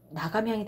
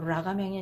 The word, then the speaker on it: 나감향: 한문으로 소라 라자. 읽을 때는 나라고 읽죠. 나가 되는 거예요. 그래서 나감향이 된 거예요. 라감향이 아니고 뚜껑 감자 향기 향자예요.